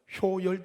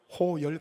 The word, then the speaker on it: 효열: 발음을 잘 못 하고요 효열 대신에 뭐라고 했을까요 호열 그랬어요 예 호혈 오늘 그냥 제